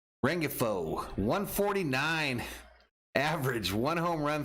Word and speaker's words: Rengifo: gonna bring us luis rayfo next pitch up high ball i think i said this dude's name wrong rengifo 149 average one home